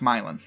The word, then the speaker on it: Milan: Ohio and Michigan and in both cases is pronounced Milan it's it's bizarre though Fontana is Bella Fontaine